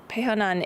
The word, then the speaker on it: pehonan: that name means yes so pehonan is how i say it um and although maybe it is said a bit differently it depends which crew